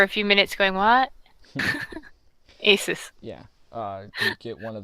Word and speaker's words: Asus: bucks it was like I was i can't pronounce it was like a su s or some like there Wow yeah we have